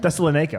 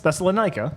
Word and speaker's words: Thessalonica: Tessel what? Thessalonica. Lanika. Lanica. Not Lene. The people who were referred to as the Thessalonica. Thessalonians. Thesalonica.